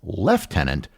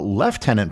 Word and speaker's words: lieutenant: why Comm wealth countries pronounce it as left tenant when there's nothing in the word that would indicate something that sounds like the letter F the best reason I've